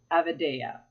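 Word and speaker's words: avidya: clashes and the first one is pronounced avid eya an avid eya refers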